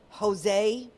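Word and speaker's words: Josue: the first one is 20 year old Jose but it's spelled j-o-s-u-e his last name is clavel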